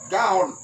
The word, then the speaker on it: Gaon: Le sens du mot en hébreu, orgueil en hébreu, là, Gaon. Tu écris G-A, accent, voilà, apostrophe, et puis O-N. Qui veut dire élévation, hauteur, fierté. Donc, hébreu, orgueil en hébreu, là. Gaon.